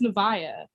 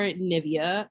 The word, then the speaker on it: Nevaeh: with my pronunciation because my name is nevaeh um it's heaven spelled backwards um which is like that but then like you know how people definitely do things with their children's names and another popular pronunciation of it is or nivea or navia and i've heard all